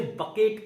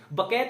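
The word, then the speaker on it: bouquet: बकैत नहीं कहते हैं, अरे नहीं नहीं नहीं, गलत नहीं सोचना, बकैत नहीं कहते हैं, बकेट कहते हैं। क्या कहते हैं, बकेट। प्रोनाउंसिएशन को सही करो, बकेट कहते हैं।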